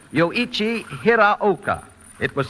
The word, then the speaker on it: Hiraoka: many taking that announcer's test as Yoichi Hirokawa or Yoichi Hiroike, and a great many other variations, all of which are wrong because, right from the voice of the authority itself, it should be pronounced Yoichi Hiraoka.